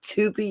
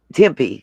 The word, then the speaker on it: Tempe: locked to someone in tupe arizona is that how you say it to me and tempe sorry you know i